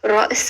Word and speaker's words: Ra's: But anyways, it's pronounced Ra'is. Ra, it's a rolling R, Ra. And then there's a very short like Amelia, Ra. And then there's a glottal stop. And then there's a S.